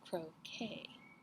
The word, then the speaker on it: croquet: Duchess, an invitation from the Queen to play croquet."